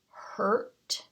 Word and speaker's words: hurt: u sounds like uh do you hear a in the word hurt hurt hurt it's almost skipping the vowel sound isn't it do you remember why we did this just a few weeks ago this is an r controlled vowel so it's not a short u it's an r controlled vowel making a different sound so this doesn't count